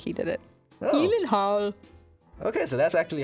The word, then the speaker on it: Gyllenhaal: Gyllenhaal. Okay, so that's actually how you pronounce it. That's how you pronounce it. Gyllenhaal.